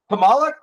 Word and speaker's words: Kamala: Is it Camila or Kamala? And I feel like I had this conversation now with 5 people, and this is what's funny. So and nobody knows. Kamala.